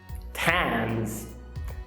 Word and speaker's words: Thames: O que não te disseram é que nem todo TH se pronuncia daquele jeitinho com a língua entre os dentes. Olha só. Thomas, Thames, discotheque, Thailand. Você viu algum aí?